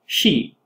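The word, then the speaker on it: 四: number four for example in Japanese they're both pronounced she and in fact before I was doing this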